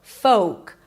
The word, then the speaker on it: folk: It is not folk. There is no l and the o is a long o in go. Folk.